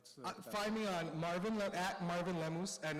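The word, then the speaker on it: Lemose: What's Find me on Marvin Marvin Lemoose and it's but I spelled Lemus the way it's supposed to be pronounced. It's not. It's L E M O S E. Like a French moose.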